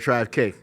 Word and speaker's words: TravQue: TravQue? It's crazy. You got it right. A lot of people, they say TravQue. I done heard it all. Trust me. TravQ? I done heard TravQue.